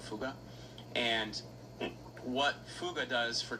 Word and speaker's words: Fugger: This guy, by the way, Yakob Fuga, his name is spelled Jacob Fugger.